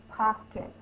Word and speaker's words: pockets: We have two vowel sounds, so we have two syllables. Pa is the first syllable. Actually, pock in the dictionary is the first syllable. This is the accented. That's the ones you have the most force, the most stress on.